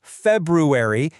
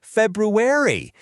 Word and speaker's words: February: It's that first R that so many of us accidentally skip over. So, it's not February, it's February. It's a sneaky little letter, but hey, it makes all the difference.